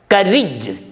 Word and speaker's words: courage: Courage, courage, C-O-U, but it is pronounced as ka. R-A-G-E is pronounced as ridge.